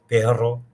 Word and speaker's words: perro: Perro, as opposed to pero. Pero is a conjunction. Perro is a noun, the animal in this case, dog.